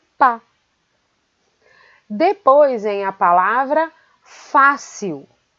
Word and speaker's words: fácil: Depois vem a palavra fácil. Fácil. Fácil. A sílaba fá é a sílaba tônica.